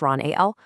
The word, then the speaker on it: Ahl: One month you might have someone like Ron Ahl, that's pronounced Ron A-L, talking about volcanoes.